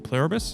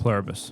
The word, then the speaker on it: Pluribus: So, how do you pronounce it again? Plurabus. Pluribus.